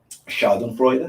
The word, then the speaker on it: schadenfreude: was thinking of I don't know how to pronounce this but Shaw and freuda schadenfreude schaden Freud there we go uh but that's